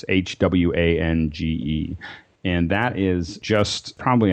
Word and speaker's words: Hwange: Also, if you are in the Victoria Falls area, there's also, and I never say it right, but it's Hwange Park. It's Hwange.